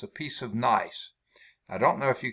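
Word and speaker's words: gneiss: it is nice okay the g is silent but it's nice it's a piece of nice i don't know if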